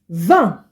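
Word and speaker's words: vingt: be this Nerf and 20 is Van van this G makes kind of like a nasal sound here if you can pronounce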